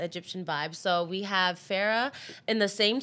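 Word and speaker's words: Phara'h: So one R, so it's going to be P-H-A-R-A apostrophe H. Pronouncing Farah.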